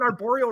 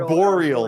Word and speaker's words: arboreal: trees i would have gotten arborial right because tarantulas are terrestrial arboreal that's how you say it that makes way